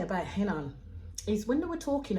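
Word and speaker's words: Renan: one so we meet Agata and henan spelled pronounce henan but the spelling is r-e-n-i-n so I had to literally put in Brackets in minutes exactly how to pronounce his name so it's pronounced Helen so henan Agata starts speaking um and straight off the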